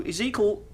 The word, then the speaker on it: Ezekiel: So Ezekiel, that's how you pronounce his name, has been sort of, I'm not really sure what the word is.